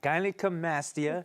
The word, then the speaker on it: gynecomastia: Something that I don't know if I can pronounce, but it's gynecomastia. Yes, gynecomastia.